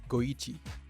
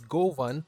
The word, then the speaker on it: GO1: have a cream colored goichi one thing that i just learned is that g01 is not pronounced as gohan but rather go ichi because one in japanese is pronounced as ichi anyways as the round